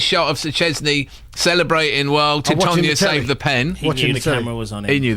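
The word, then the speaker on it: Tytoń: Yeah, only because you said that the Greek goalkeeper was called Titan, and I think people will think that because he was sort of 6'9" or something. But his name's Titonia, in fact.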